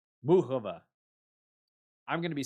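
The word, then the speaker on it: Muchová: the WTA website because I have always heard Mukova's name announced or pronounced Mukova. Everybody on ESPN was saying Muhova. Muhova. Like what the hell? Hi, my name is Karolina Muhova.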